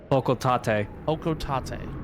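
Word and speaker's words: Hocotate: Hokotate. I It is kind of hard to pronounce at first. I think of hokco and then tat like you know tomato tomato kind of situation.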